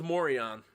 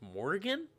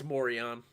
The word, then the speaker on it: Morion: Ring of Morion, which is how you pronounce that. Anybody who says it's Morrigan? No, it's Morion.